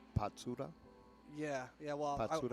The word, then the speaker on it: Patsura: a deciding shootout so his name is pronounced patura yeah yeah well that's